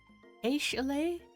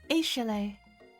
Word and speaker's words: Aishalay: I can't pronounce this name. Chalet? Like Ashley, but fancier? It's Aishalay, your arch rival.